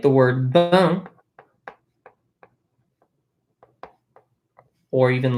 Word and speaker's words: bain: So like the word bain, or even like important. Right? So bain B-A-I-N is like a bath, right? Bain. Notice we have an A-I-N. It is pronounced un.